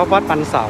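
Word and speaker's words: วัดปันเสา: วัด นึง นะ ครับ คน เมือง ก็ ออก เสียง ว่า วัด ปัน เสา โน้ ท ก็ เป็น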